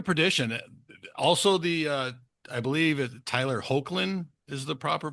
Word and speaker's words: Hoechlin: um, so Road to Perdition, also I believe Tyler Hoechlin is the proper pronunciation.